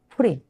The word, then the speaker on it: 푸림: 절이아요 그래서 부림절 어 부림절 히브리어로 프림이 프림 푸림 예 프림이 그다음에 여러분